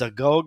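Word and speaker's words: agoge: It's spelled A G O G E. I think it's a Gogg.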